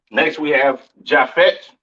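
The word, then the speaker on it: Japheth: right next we have jaffet all right or Javit some people like to call it right um pronounce Yap in Hebrew these are your so-called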